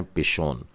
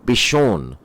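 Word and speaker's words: פִּישׁוֹן: नाम है पि शोन और यह छोटा पी नहीं लिखिए हिंदी बोलने वाले लघु और दीर्घ का अर्थ समझते हैं तो पि शोन नहीं यह है पी शोन आप बाइबल में देख सकते हैं बड़ी ई की मात्रा लगी होगी इसमें पी शोन चलिए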